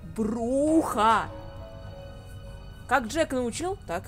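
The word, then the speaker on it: Brujah: По поводу того, как правильно произносить Бруджа или Бруха. Конечно, я понимаю, что эта игра вышла куда раньше, чем... Ну, на 4 года, чем Bloodlines. Но Джек, просто, я не знаю, по слогам чуть ли не произносит то, что Бруха!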